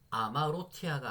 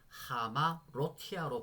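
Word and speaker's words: ἁμαρτία: 볼 때는 어떻게 다라고 아가 아니고 하로 발음을 바꿔서 해야 된다는 말씀드렸습니다 그러면 아마로티아가 아니고 어떻게 발음이 바뀌었다라고 해보시죠 하마 로티아로 바로 바뀌었고요 죄란 뜻을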